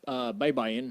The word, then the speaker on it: Baybayin: Yeah, and the correct pronunciation, please. Yeah, of course. Baybayin is the name of an ancient writing system from the Philippines.